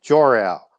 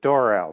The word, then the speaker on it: Jor-El: superman's name is is uh jor-el or dorel depending on how you want to pronounce that and he is